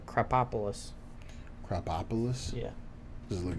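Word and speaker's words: Krapopolis: You said it wrong. It's Crapopolis. What did I say? Cropopolis.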